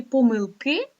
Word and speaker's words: помилки: помилка і помилки дивіться в слові помилки наголос іде тільки на останню голосну літеру И помилки не можуть бути помилки або помилки тут помилки а от